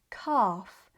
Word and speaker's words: calf: The L is silent, but it changes the vowel sound, making it longer and deeper. This also happens in words like calf and palm.